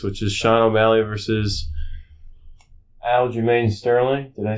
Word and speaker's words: Aljamain Sterling: But the next big event going at the Garden is technically the UFC fight in August, which is Sean O'Malley versus Aljamain Sterling.